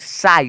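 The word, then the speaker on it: sigh: ना यहां पे कोई भी साउंड जो है उच्चारण नहीं निकला है एस आई जी एच साई साई क्या बोलते हैं इसे साई एस आई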